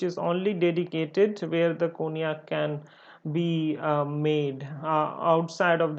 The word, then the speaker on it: cognac: The first of all, I should mention that cognac is been written as cognac. It's basically pronounced as cognac.